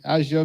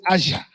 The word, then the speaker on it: Azure: In Microsoft, so the Middle East people, they say Azure. We in Africa, we say Azure. But again, different culture, different pronunciation.